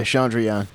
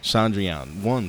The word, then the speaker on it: Chandrayaan: Yeah, Chandrayaan. Chandrayaan-1 spacecraft, scientists were able to calculate how much water was present on the surface of the moon.